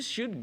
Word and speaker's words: should: You should go to the library. You should go to the library. L-nya jangan diucapkan ya, jangan should.